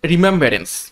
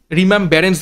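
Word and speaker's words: remembrance: থেকে হবে না এবং আমি প্রথম উচ্চারণ ভুল করেছিলাম রিমেমন্স বলেছিলাম সেটাও কিন্তু হবে না রিমেমব্রান্স স্পেলিংটা কি বা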